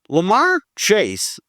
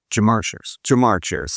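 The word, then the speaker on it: Ja'Marr Chase: Lamar Chase, did I pronounce that right? Jamar Chase.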